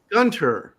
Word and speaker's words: Gunter: is that pronounced gter Gunter it's like Hunter with a G and it sounds German but I keep hearing that it's like Welsh yeah doesn't make doesn't